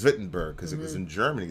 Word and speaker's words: Wittenberg: It's pronounced Wittenberg because it was in Germany.